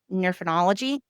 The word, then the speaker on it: neurypnology: And he coined the term hypnotism and published a book called Neuf um Sorry, it's hard to pronounce. It's neurypnology.